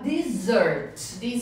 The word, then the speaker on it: dessert: E a dessert. A pronúncia, gente, sobremesa, tem desert, que é o deserto, e dessert, que é a sobremesa. Dessert.